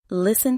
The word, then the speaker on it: listen: a K in knife a t in listen a b in comb